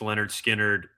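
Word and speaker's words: Lynyrd Skynyrd: I've got Pluto and Baby Pluto, pronounced Leonard Skard, Eagle's greatest hits from 71 to 75, her loss and blonde.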